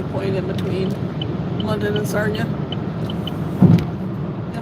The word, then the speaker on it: Sarnia: Is kind of the halfway point in between London and Sarna. Yeah, Sarna rhymes with Narnia.